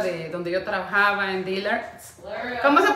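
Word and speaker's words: Dillard's: en la tienda de donde yo trabajaba en dealers Cómo se pronuncia Karen dillards mis botitas de shein miren mis botitas mis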